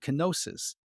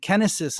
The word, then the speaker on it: kenosis: a term in Christianity kenosis or kenesis as I think is pronounced kenesis is the act by